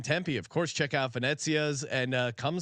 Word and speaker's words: Venezia: Venezia's. Right. You give the Italian pronunciation of Venezia. No, you got it. You nailed it. Venezia. You even got the hand inflection right.